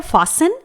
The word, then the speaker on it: fasten: इसके बाद है फास्टन, स्पेलिंग है FASTEN। इसे हम फास्टन प्रोनाउंस नहीं करेंगे, गलत हो जाएगा।